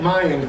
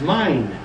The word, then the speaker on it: Mayan: The reason I say quote, Mayan, quote, because that is not the correct pronunciation, it's mine.